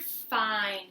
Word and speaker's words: fine: Where would the word fine go? Fine would go on this side. Fine. Makes the long I sound and it has a silent E at the end.